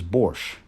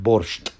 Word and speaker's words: борщ: So the word in Ukrainian is borщ, not borscht, right?